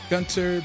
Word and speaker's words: Gunter: is gun to trigger that is how you say and pronounce my name Gunter being basically if you know Adventure Time you know Gunter you know how to say that particular word and if you know